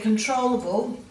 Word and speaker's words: controllable: this word um here controllable is really interesting so in control you've got a long o sound on the second syllable and the emphasis is